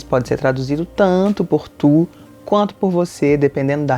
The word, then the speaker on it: tu: Prestem bem atenção na pronúncia, é um som que a gente não tem em português. Então, o U, a boca de U e o som é de I. Então, a gente vai fazer tu.